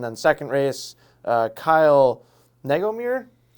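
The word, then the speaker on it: Negomir: race uh and then second race uh Kyle nego mirror spell it n-e-g-o-m-i-r yeah I would I would say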